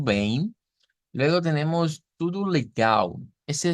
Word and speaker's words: bem: Tenemos tudo bem con la nasalización, ¿verdad? Es ahí y bueno, el diptongo EI en este caso que se produce pues por la combinación de la E y la M y nasalizamos, ¿verdad? Diciendo tudo bem.